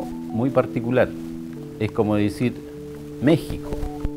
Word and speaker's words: México: particular es como decir méxico méxico qué ec se escribe con x pero suena como una j se pronuncia méxico y en white hart